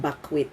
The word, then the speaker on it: bakwit: Did you know that in these evacuation centers, an evacuee in the common language is called bakwit, as in it's spelled like BAKWIT, bakwit.